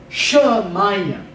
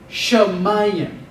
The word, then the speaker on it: shamayim: So I'll pronounce it and then give an explanation. Shamayim. Shamayim.